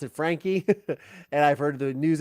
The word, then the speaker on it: Franke: you so much Sher Duncan you say it's Frank good to know because I've heard it pronounced two ways I heard the lawyer pronounce it Frankie and I've heard the news agencies pronounce it